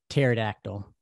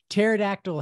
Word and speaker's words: pterodactyl: And my last one, pterodactyl. Thank you. Obviously, that's strong. Yeah, that's strong. That's like pterodactyl has to be the first word that's introduced you to the secret P.